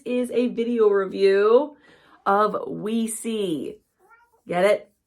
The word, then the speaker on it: OuiSi: It says the name of this set of photo cards is Yes, Yes in French and Spanish, pronounced OuiSi in English.